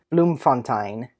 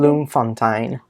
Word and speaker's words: Bloemfontein: Yeah, he was born in Bloemfontein on January 3rd, 1892.